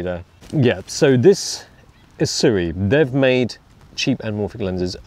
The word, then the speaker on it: Sirui: siri siri siri siri how do you pronounce siri my name is pronounced siri it rhymes with cheery lakiri and quantum theory not your name dick